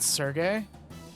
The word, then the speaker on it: Serge: part of the standard isn't it Sergey uh I think it's pronounced Serge that's how I've heard people say it all right when do